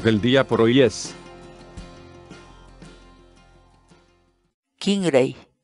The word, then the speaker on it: Kinray: de videos en la que te enseñamos a pronunciar algunas palabras en quechua Así que nuestra palabra del día por hoy es kingray kingray kingray la palabra quechua kingy en español significa cí